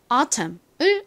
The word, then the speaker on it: autumn: 소리는 나지 않지만 N까지 써주셔야 완성입니다. 이 단어를 외우실 때 미국식 발음인 autumn을 먼저 외우시는 것보다 autumn을 먼저 기억하시는 것을 추천드립니다.